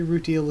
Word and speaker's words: rutile: afterward I was like maybe they're just pronouncing it wrong cuz Japanese English but no apparently rutile is the pretty the correct pronunciation routines being really scary